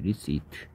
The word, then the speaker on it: receipt: RECIPE, RECIPT, 리시트. P가 소리 안 나고.